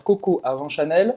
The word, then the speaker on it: Coco avant Chanel: Vou só pronunciar em francês para não me enganar entre Coco e Coco. Então vai ser Coco avant Chanel. Cocô como cocô mesmo, hein?